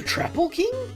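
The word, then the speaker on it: Troupple King: who heard of the traple king have trout and half Apple pronounced like mouthful he's one of the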